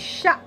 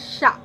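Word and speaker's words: chat: okay dirty next is sha yes this is my favorite word first of all the t of this word is silent okay this is called sha and the meaning of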